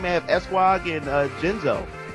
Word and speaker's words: Genzo: So, right beside me, I have Esquog and Genzo. Gotta put that soft G on it.